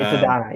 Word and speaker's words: Adonai: Did I even pronounce that right? Yeah, I always just you hear AD did. Mitchell. It's Adonai, yes.